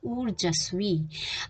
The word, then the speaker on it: ऊर्जस्वी: री की मात्रा है ज के ऊपर, तो ये ऊर, जब हम इसका उच्चारण करेंगे तो ये जिस वर्ण के ऊपर लगती है उससे पहले ही सुनाई देनी चाहिए, तो ये है ऊर्जस्वी।